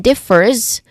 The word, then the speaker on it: differs: Take note that in differs, we try to do a buzzing sound in the end instead of a hissing sound, because it's the spelling is letter S, but we try to really showcase a buzzing sound here.